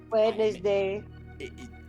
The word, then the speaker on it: Wednesday: You don't say the D, but you say the R in February. Wednesday.